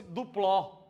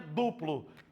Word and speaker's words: duplo: Só seria duplex se fosse dupló. Eu tenho um apartamento dupló. Então é um duplex. O nome é duplo. Duplo. Então a sílaba mais forte aqui, duplex.